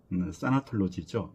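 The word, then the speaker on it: thanatology: 우리가 죽음학 하면 타나톨로지, 영어 발음으로는 사나톨로지죠.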